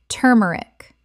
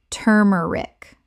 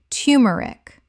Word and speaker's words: turmeric: sherbet sherbet Word 42: turmeric Common mispronunciation: turmeric Correct pronunciation: tumeric The first syllable sounds like two, not tur in careful speech, though turmeric is widely accepted.